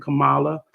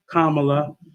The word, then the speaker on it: Kamala: And I'm very confident that we're going to get a win in the favor of Biden and Kamala. Why do I keep saying her name wrong? Kamala.